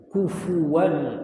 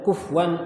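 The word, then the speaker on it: كُفُوًا: walam yulad walam yakahu kufuwan Ahad kufu ka Kaf domma FA domah banyak yang baca kufwan ahad kufwan ahad jadi kafnya dah tapi fnya malah Justru malah jadi sukun banyak itu nah banyak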